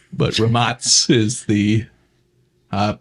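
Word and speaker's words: Rimac: mean if you want to give the American pronunciation you can call it remark but romance is the uh correct pronunciation for the company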